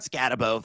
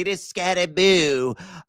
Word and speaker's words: Skattebo: It is not Skattebo, folks. We got to pronounce it correctly. It is Skattebo. So think about the ghosts that are haunting your house right now, and there you go.